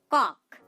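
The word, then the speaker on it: cock: Next উদাহরণ দেখুন, কক। কক, দেখুন এখানেও আমরা সি এবং ও লেটারটিকে খুঁজে পাচ্ছি, এখানে তার উচ্চারণটা হচ্ছে ক। ক এর সাথে কিন্তু অ সাউন্ড রয়েছে, ক।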